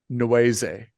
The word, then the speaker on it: Nwaeze: So for example, one of the characters, Dag, her last name is Nweze. And someone at one point asks her, how do you spell that? And it's spelled Nwaeze, which is obviously reference to, the rap group NWA, and Right.